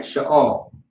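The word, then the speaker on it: שאל: All right, Sha'ol. You have the Sha, you have the you have the La. The Sha is by itself, singular. The and the La are connected together. All right.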